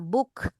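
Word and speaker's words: boek: ya di sini juga kalau tulisannya o e dibacanya u Ya seperti misalnya book b o e k book ditulisnya o e book Oke Surabaya Iya Surabaya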